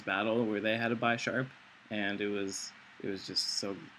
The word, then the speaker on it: Bisharp: I guess Bisharp, because it's supposed to be like a bishop, so Bish instead of Bi.